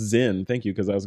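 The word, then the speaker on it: Sinn: Product pronounced Zen. Thank you, because I was going to say Sin.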